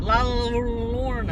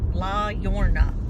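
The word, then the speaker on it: La Llorona: La Lorna. Yeah. Brett knows how to say it. La. Well, it's double L, so it's a ya. La Yorna.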